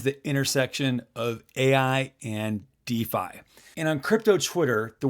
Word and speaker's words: DeFAI: you spell it d f AI that is pronounced defi or exactly the same as DFI defi so